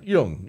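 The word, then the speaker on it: Jung: guys know who Carl Young is car young what is it J yeah y yeah Yung young J it's spelled j right uh he was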